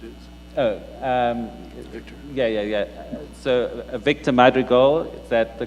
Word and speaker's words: Madrigal: So Victor Madrigal, is that the correct pronunciation?